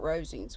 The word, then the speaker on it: Rosings: Phillips understood from him what Rosings was, and who was its proprietor, when she